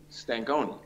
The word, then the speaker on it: Stankonia: that okay well tell me about the album Stankonia is that am i pronouncing that correctly honey Stankonia okay Oh stank maybe I was trying to